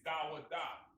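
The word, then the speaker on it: דוד: In the Hebrew, it's Dawada. Da, wa, da. That's the Hebrew, right? And that's the pronunciation.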